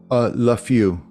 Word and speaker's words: LaFeau: And how is that last name? LaFew. Spell that, please.